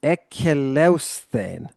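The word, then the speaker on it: ἐκελεύσθην: Yeah, that 6 principal part, that's an aorist passive, and it's difficult to pronounce. It is ekeleusthen.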